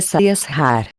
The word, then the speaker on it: Sahasrara: Centro superior, se pronuncia Sahasrara, localizado em la parte superior de la cabeça.